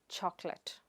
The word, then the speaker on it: chocolate: The next word is chocolate. It is not choco-late or choc-late but, chok-let.